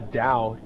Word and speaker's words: Tao: And it was called the Tao, but it's spelled T-A-O, Tao Te Ching, and it's T-A-O-T-E-C-H-I-N-G for whoever asked.